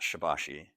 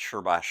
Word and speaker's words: Shibashi: that according to our research it's actually not pronounced shibashi it's sh bash sure but everyone we run across pronounces it